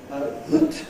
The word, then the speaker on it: that: There is a word that, the relative pronoun, relative adverb, that, which is always pronounced with schwa, right?